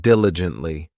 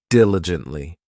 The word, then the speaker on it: diligently: Next, we have diligently. This adverb has four syllables and the stress is on that first syllable, diligently.